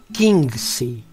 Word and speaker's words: Xingzi: En el programa de hoy escucharemos Yin y Yang como sustancia concreta Qingzi, que se escribe Xingzi.